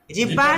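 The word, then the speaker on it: جيم: জিম জবর জ্যা আমরা জিম উচ্চারণ করি জিহ্বার আগা থেকে জিম এরকম না জিম জিম্বার মাঝখান এই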